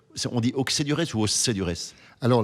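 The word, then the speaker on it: Auxey-Duresses: On dit Auxey-du-Rez ou Auxey-du-Rez. Alors les Bourguignons disent Auxey parce qu'ils n'arrivent pas à prononcer les X.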